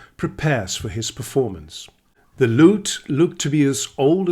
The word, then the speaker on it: Lut: Perhaps my love for troubadours has something to do with my last name, which is spelled as L-U-T, and in English it would be pronounced as lute.